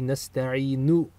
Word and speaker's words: نستعين: So nasta'in should actually be nasta'inu with a dhamma on the end if you pronounce the entire verb. But since we're stopping, we stop with the sukun in recitation.